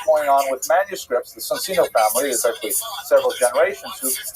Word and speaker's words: Soncino: early printers were the Soncino family. I will probably pronounce it Soncino because, I was born in North America, but it is in situ, it would be pronounced Soncino.